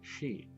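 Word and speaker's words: し: She. She. It's pronounced as sheep.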